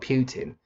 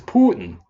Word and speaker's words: Putin: It's not Putin. It's Putin. Like you're saying pudding.